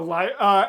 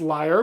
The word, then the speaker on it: lyre: Yeah, L-Y-R-E, I'm pretty sure is pronounced liar, but I might be wrong.